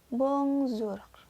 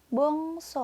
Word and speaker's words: bonsoir: your ya itu dibacanya bongsor nya di bawahnya ada kata bongso ah tulisannya bonsoir tapi dibacanya Wongso Hai disampingnya ada wata